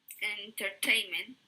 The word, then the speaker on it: entertainment: Siguiendo el mismo patrón, que va en la tercera sílaba. Entertainment.